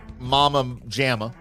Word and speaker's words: Mama Jamma: Colby from Jessica Ellis, who is at baddest Mama Jamma. Okay. Oh, Mama, I guess it's pronounced Mama Jamma. That's the rhyme.